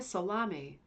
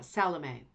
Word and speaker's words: Salame: is by uh Laura salami uh salame sorry I said salami that's not funny I'm sorry I think it's salame like the character